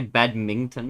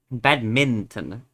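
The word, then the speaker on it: badminton: You sounds like you add a G in there sometimes. Oh, if I say badmington maybe. Yeah. Bad minton.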